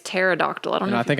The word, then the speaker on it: pterodactyl: it's a silent key play it for pterodactyl pterodactyl pterodactyl that's really embarrassing I'm going to